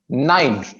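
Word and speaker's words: nine: Last में ना थोड़ा सा र की आवाज आती है. 9. आपने र क्लियर नहीं रखना. बिल्कुल हल्का सा र रहेगा लास्ट में.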